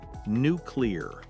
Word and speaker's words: nuclear: Nuclear. H. Yes. N u c l e a r. The correct way is n u c l e r. Three syllables. Clear l sound in the middle.